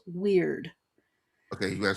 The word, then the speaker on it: Wyrd: Yeah, and the artist behind that is Gall's Weird. Okay, you gotta spell that.